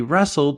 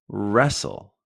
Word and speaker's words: wrestle: a difficult decision she wrestled with the math problem for hours first pronunciation the first letter the W is silent we only pronounce the r wrestle wrestle wrestle with if